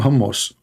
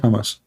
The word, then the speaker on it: Hamas: Trump he do not know how to say the word Hamas. He called him Hamos. He just called Hamas Hammus. Hammos. What? Hamas. Okay.